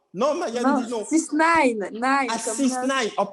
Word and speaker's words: 6ix9ine: On va partir du cas de 6ix9ine. Vous voyez, là, je l'ai bien prononcé, là. 6ix9ine. C'est bon, Maya? Non? Non, Maya nous dit non. 6ix9ine.